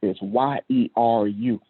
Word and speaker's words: Jeru: the Jeru, and that should be, if you're looking at in the Hebrew pronunciation, it's a Y, in Yaru. So it's Yeru, and it means to flow.